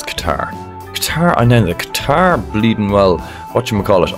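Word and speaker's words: Qatar: it Dubai no it's qarqar I thear bleeding well Whatchamacallit I definitely know the flag for cater cater is how you pronounce that but that was a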